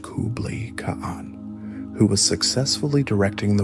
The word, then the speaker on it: Kublai Khan: The contenders were Mongol's two younger brothers, Kublai Khan, pronounced Kublai Khan, who was successfully directing the war in the